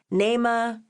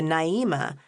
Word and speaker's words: Naima: Usually people call me Naema, Naeema, Naima, pretty much anything but the Naima my parents intended when they named me